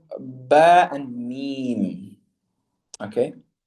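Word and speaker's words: ب: The letters ba and mim are pronounced by bringing the two lips together. So, very simply put, basically closing your lips, both lips together, and closing them tight. Ba, ab, ub, ib. Again, ba is ab, ub, and ib.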